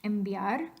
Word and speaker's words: enviar: So when you say a word in Spanish, enviar, you're not really pronouncing an N, because that V letter will be pronounced like a B in pronunciation, which is, just like the MBA, bilabial.